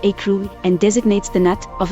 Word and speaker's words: écrou: The undisputed etymology of the English noun screw is from Middle French escroc, pronounced escroc, which evolved into present-day French écrou, pronounced écrou, and designates the nut of a bolt.